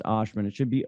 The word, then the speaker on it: Ohsman: It's spelled Ohsman, but it's pronounced Ashman. It should be Ohsman, but you'll have all that in your great show notes and everything else.